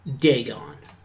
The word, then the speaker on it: Dagon: Pronounced Dagon.